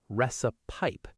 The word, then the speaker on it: recipe: Word number seven, recipe. A lot of learners pronounce the last part like pipe. Recipe, but it's actually softer.